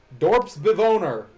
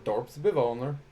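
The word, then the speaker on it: Dorpsbewoner: non-english smash character name dorps bivoner what character what language is owner I guess it'd be pronounced more dorp's Bill owner that's right it's dutch villager and we are truly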